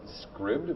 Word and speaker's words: Scribd: is the co-founder of Scribd which rhymes with ribbed and uh which is